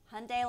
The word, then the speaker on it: Hyundai: it Hyundai like Sunday Hyundai like Sunday okay hyunday like Sunday that's the easiest thing I can tell you it's Hyundai you know the Korean way but the American way Hyundai like Sunday okay Hyundai like Sunday that's